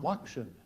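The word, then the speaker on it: lokshen: trishan correct it might have been that alternate pronunciation that made it click there for lorosa she be moving on loction loction loction Lo definition noodles faction l o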